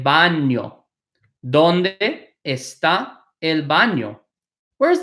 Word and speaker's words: baño: donde esta el baño this little n with a line on top is pronounced like near so this is el Bano el baño donde esta el baño